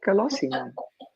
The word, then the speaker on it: Colosimo: your name wrong but is it colossum that's right colossum all right I'm seeing